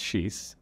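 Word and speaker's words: xis: And is X actually pronounced sheesh in Portuguese, like I saw someone claim on YouTube? It is absolutely pronounced sheesh.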